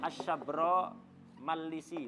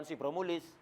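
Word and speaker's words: Asy-Syabramalisi: Bacanya begitu. Asy-Syabra Malisi. As-Sabra Malisi, bukan Sibromulis. Banyak orang sini niru namanya Sibromulis. Enggak, baca yang kata saya Muhammad Khatib, bacanya lebih tepat adalah Asy-Syabra Malisi. Ala wazni Ya'adra Ar-Risi. Wazannya sama dengan Ya'adra Ar-Risi.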